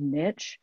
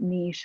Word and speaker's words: niche: I used I called I pronounce that word niche but I know a lot of people pronounce it niche I think maybe even